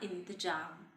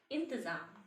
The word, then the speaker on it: इंतज़ाम: बच्चों देखिए, अगर इस बिंदी को यह बिंदी अगर इसमें नहीं लगाई जाएगी तो इसको पढ़ा जाएगा इंतजाम। ठीक है, इंतजाम, इंतजार। लेकिन यह बिंदी लगते ही यह इसका जो उच्चारण है वो बदल जाएगा, इसलिए हम इसे जब यह बिंदी लगाई जाएगी तो हम इसे पढ़ेंगे इंतजाम।